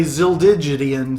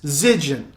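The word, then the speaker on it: Zildjian: I was going to really mess that up and say ziligian symbols, but it's Zigen, like it rhymes with pigeon.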